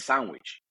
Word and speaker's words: Sanguich: we all know that right but when you pronounce it with our translating like us us as Spanish-speaking citizens reading a word it sandwich and so it's like a lot it's that